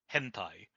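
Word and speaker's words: 編隊: So the word formation can also be pronounced hentai.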